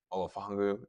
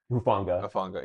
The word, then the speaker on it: Hufanga: But some key pieces they lost this year was Greenlaw, Olafungu, is that how you say his name? Hufanga, yeah.